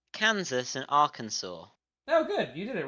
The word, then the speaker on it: Arkansas: said Arkansas yeah yeah Arkansas is correct it's like a silent s kind of yeah it's just it's